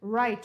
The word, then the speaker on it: right: You hear the sound I, but don't pronounce, none of these should, the G and the H should be pronounced in none of these words.